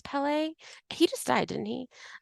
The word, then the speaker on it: Pelée: I know I'm really having a hard time not saying Pele, but I'm pretty sure it's Pelée.